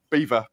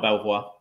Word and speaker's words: Belvoir: Beaver, not Belvoir. Yeah, it's Beaver.